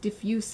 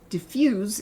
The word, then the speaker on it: diffuse: It's the same word, but it's pronounced differently depending on how you're saying it. Diffuse is the adjective. Diffuse is the verb.